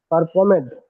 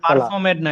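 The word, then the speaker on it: performed: After that পারফর্ম পারফর্মেড পারফর্মেড মাগরিব সালাহ। পারফর্মেড না, এটা পারফর্মড।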